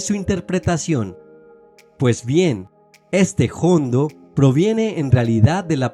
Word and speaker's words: jondo: de la palabra hondo pero debido a que muchos andaluces pronunciaban esa ha inicial con una aspiración tan fuerte el vocablo acabó sonando como si tuviese una J por otro lado es